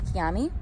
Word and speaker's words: chiami: Which is Come ti chiami. So I'm like, it's like Come ti chianti, but instead of Chianti, it's Chiami, you know? And then Filippo says, it's like salami. You know, it rhymes with salami.